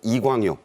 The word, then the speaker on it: 이광요: 싱가포르에는 아 국부로 불리는 우리말로는 이광요 그쪽 발음으로는 리유 총리 부자에 이어 새로운